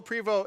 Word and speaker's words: Prevost: go check them out Prevot partners dot-com the st is silent so remember that when you spell it out okay we've got to